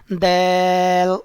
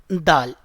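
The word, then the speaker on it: دال: So you can pronounce this letter by putting your tip of your tongue with the gums of your upper front two teeth. You can see in this second picture. So when you will touch your tip of your tongue with the gums of your upper front two teeth, so then you can pronounce this letter dal.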